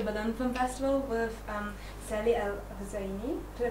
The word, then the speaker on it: El Hosaini: Mister, we're here at the Berlinale Film Festival with Sally El Hosaini. Did I pronounce it right? Yeah, El Hosaini.